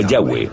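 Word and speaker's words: Yahweh: h w h y pensamos que probablemente se pronunciaba yagüe o algo así pero yagüe sólo aparece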